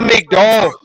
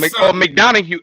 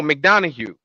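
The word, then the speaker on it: McDonagh: It's JD McDowell. JD McDowell. JD McDowell. That's how I think it's pronounced. It's like JD Madonna or something. It's McDonough. No, McDonough.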